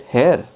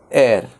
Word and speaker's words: heir: Is it hair? No, it is not hair. It is heir. Heir. H over here is silent.